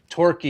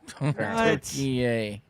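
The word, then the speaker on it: Türkiye: you're supposed to say Torquay yay now. Torquay.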